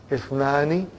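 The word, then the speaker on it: اثنان: That Ithnani, the Hamza is Hamzatul Wasal. If it comes in the beginning, it is pronounced. If it doesn't come in the beginning, then it is assimilated.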